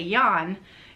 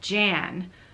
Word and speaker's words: Jan: both but I think in Dutch you pronounce the J like a yeah instead yeah which was you